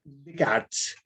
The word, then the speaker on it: Descartes: Así se escribe, pero se pronuncia Descartes.